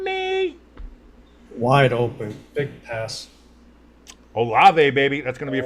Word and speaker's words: Olave: Olivie? Did you just say Olivie? How do you say his name? Olave. Chris Olave. Olave.